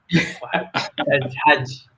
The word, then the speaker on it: Hajj: The H is silent where I come from. Hajj.